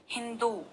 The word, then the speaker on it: हिंदू: अगला शब्द है हिंदू हिंदू जब लिखते हैं तो कुछ लोग हिंदू में छोटे उ की मात्रा लगा देते हैं और वह गलत हो जाता है क्योंकि सही उच्चारण है हिंदू धर्म में इस ओर